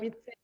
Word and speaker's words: habité: Habité. Oui. Habité. Habité. Habité. Don't sound H. You don't go ha. No ha inside. It's a. You start from habité.